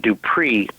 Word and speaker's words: Dupris: He was from South Dakota, and his family, his great-grandmother and grandfather, their last name was Dupree, Dupris. You pronounce it Dupree.